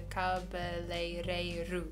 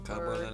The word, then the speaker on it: cabeleireiro: But a hairdresser is a cabeleireiro. Oh, cabeleireiro. Or cabeleireira, depending on the masculinity or femininity. It's difficult to pronounce.